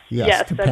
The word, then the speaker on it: Tappan: Because my understanding is, right, the name of the town in Rockland County is Tapan, even though it's spelled the same as Tappan Zee Bridge. Yes, Tapan.